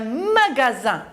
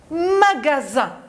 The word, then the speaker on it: magasin: Magasin. La dernière syllabe est composée du son Z. Mais je regarde, il y a le S, mais j'entends Z. Regardez bien, nous allons repasser 3 syllabes. Ma-ga-zin.